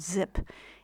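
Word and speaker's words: Xyp: is a tangle called zip it's spelled X Y P and it's pronounced zip and it came from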